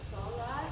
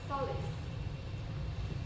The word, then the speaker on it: solace: we have one it the word solace s o l a c e I heard it being pronounced as Solas I think but the correct pronation would be soless and so for the